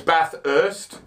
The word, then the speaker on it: Bathurst: There's only one H. It's part of the TH for Bath. It's Bathurst, Bathurst. The H is already used. It's if you were going to pronounce the hard H, it would be Bathurst, not Bathurst.